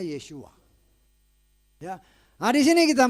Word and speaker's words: Yeshua: yahwe Saini penyelamat Tetapi kalau ada bilang yahshua itu nama itu salah Hai orang Ibrani tidak mengenal yahshua orang Ibrani mengenalnya yeshua yo yah hari sini